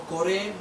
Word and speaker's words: Kóraj: Entonces miramos aquí nosotros por la línea de Tzar, que Koraj o Coré, pronunciado en Reina Valera, está simplificado como, vaya la expresión, no es para ofender, sino como un levita más.